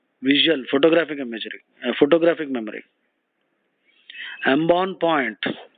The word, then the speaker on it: embonpoint: Embonpoint, embonpoint. The T is silent.